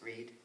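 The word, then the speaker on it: Brigid: The old Celtic name is also known as Candlemas in more recent time, or Breed's Day, spelt Bridget, but in the Celtic pronounced Breed.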